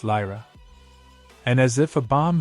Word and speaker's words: Lyra: in tone he says it's Lyra and then pronounced it more slowly lie raw completely dumb struck her